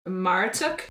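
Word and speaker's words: Marduk: and this one's really interesting the God is maratuk and uh it's either spelled m-a-r-d-u-k- or m-a-r -u-t-u-k am I pronouncing it wrong no we just haven't no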